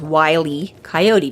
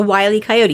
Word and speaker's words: Wile E. Coyote: It's how it's spelled, W-I-L-E, middle initial E, Coyote. The joke being, of course, that it's Wile E. Coyote, because being wily is sneaky and cunning and whatever, right?